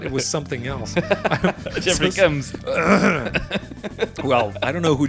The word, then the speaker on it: Combs: Combs like a comb. Fuck. Jeffrey Combs. Combs. Oh, you mean like a comb where you used to style your hair? Yeah. I thought it was something else. Jeffrey Combs.